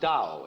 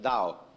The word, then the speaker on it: Tao: This principle of organic growth they call Tao. That's pronounced Dao. If it had an apostrophe after it, it would be pronounced Tao. But Dao is more or less the right pronunciation for that word.